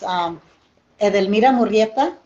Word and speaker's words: Edelmira Murrieta: I'm not gonna pronounce it properly. Say your name real quick. Okay, so it's Edelmira Murrieta.